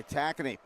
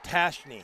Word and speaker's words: Tackney: A good look by Tackney. Wisconsin coming back. The pronunciation of that name is Tashney.